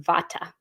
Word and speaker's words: Vata: is called Vata and here in the west we pronounce it Vata and so a vaa